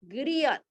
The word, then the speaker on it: griot: 어떤 이야기를 해주는 사람의 소리인데 그 사람 이름이 바로 그리옷이야. 그리엇. 발음만 하라고 그냥.